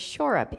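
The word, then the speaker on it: Schourup: In fact, I was telling Tom that my maiden name was Shorup, S-C-H-O-U-R-U-P. And it didn't look like it sounded, and so nobody could pronounce it right, and so we just cut it off and shortened it to Shore.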